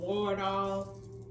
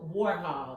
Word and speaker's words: Warhol: And Andy Wardall, I think that's how you pronounce his name. He was also a part of his journey. He looked up to him. But they said, Warhol, that's how you say it, I guess.